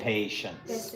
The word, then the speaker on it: patience: So that's why I just real world patience passion patience patience we say patience patience so a long a sound patience patience patience yeah